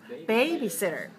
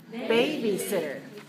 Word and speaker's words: babysitter: a babysitter babysitter okay so how do we pronounce it hi Lolo babysitter babysitter babysitter a babysitter is taking care of my